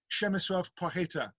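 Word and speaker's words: Przemysław Płacheta: Przemysław Płakieta is the name. I was going to say, I'll let you pronounce it. Przemysław Pacheta.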